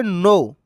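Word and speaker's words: know: अच्छे से याद करें बेटा किनो पढ़ते हैं कई बच्चे इसको तो किनो पढ़ना गलत होता है इसको पढ़ते नो इसमें के साइलेंट होता है नो मतलब जान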